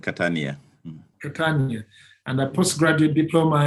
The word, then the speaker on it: Catania: university of catania is that the way you pronounce it catania in italy yes yes that is very true it's called catania and i post graduate diploma in museums and